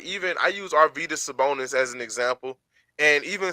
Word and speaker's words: Arvydas Sabonis: His name wrong first off. It's Arvydas Sabonis, but it's the basketball Hall of Fame, so it's not just, you know what I'm saying?